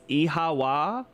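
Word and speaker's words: Oíche mhaith: Oichi Mahaith. The Irish for good night. One dialogue would pronounce it as Ihawa. Almost like the word why.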